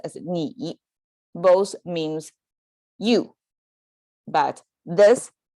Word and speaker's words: 你: With this person sign, it pronounced as 你, both means you, but this is a contemporary Chinese.